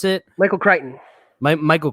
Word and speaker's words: Crichton: I mean, anything with Michael Crichton, that's how you pronounce it? Michael Crichton. Michael Crichton, yeah.